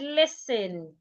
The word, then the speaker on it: listen: Another example is the word listen. A lot of people pronounce the word as listening. Some would even say listen. No, the letter T in the word is silent.